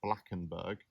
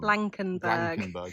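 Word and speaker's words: Blankenberge: got the bus um into uh blackenburg um blankenberg Sor we said it wrong this whole video so we do apologize for the people of Belgium blankenberg yeah um so we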